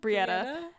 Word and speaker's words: Brietta: Did I say her name wrong? You said the wrong sister. Brietta. Annika is the human one for now. Brianna? What did I even say? Brietta. You said Brietta, which is right.